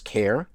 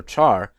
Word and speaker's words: char: use the ceh a are also sometimes pronounced as care car or char data type once again